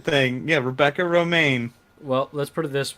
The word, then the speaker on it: Romijn: Rebecca Romijn okay oh oh I'm sorry Rebecca romaine I've never oh my god I feel so dumb I've never seen her name spelled I'm looking at the pronunciation thing yeah Rebecca romaine well let's put it this way um Jake